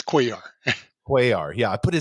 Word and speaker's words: Cuellar: Most have centered around cellular, but Cuellar is the right pronunciation.